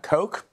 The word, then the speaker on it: Koch: Is it Koch? It's pronounced Koch.